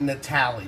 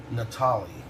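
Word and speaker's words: Natale: never heard a man that would it's not pronounced Natali's by the way it's Ralph Natalia Natalia innocent hard worker I never touched a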